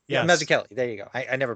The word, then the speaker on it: Mazzucchelli: Brian Mazzucchello? Yes, Mazzucchelli. Am I pronouncing? Yes. Mazzucchelli.